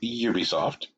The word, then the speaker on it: Ubisoft: Ooh, we're going to talk about UISoft, right? According to the company, it's pronounced Ubisoft.